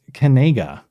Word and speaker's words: Kinzinger: his freshman year, though Noah says his name is pronounced Kinzinger. This is apparently the one I in the English language that makes a long A sound when you read it. but that's what he's going with.